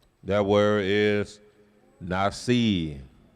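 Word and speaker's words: נשיא: That word is Nasi. You can say Nasiah, but it's really Nasi.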